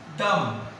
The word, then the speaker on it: dumb: Dumb. Dumb. Not dumb. Dumb. B silent.